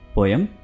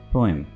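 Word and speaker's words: poem: पोयम? जी नहीं, इसको हम पोयम प्रोनाउंस नहीं करते, इसको हम प्रोनाउंस करेंगे पोएम, पोएम या पोम, राइट? पोअम, पोअम।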